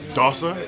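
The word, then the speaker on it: dosser: from tyson fury uh dawsa that's how you say it yeah it means lazy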